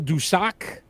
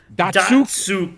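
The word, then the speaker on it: Datsyuk: Pavel Dusak. No. Did I say it wrong? Datsuk. Datsuk.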